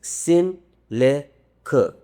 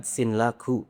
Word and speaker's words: Sinlaku: they told me that the proper way to say it is Sin le ku. Not Sinlaku.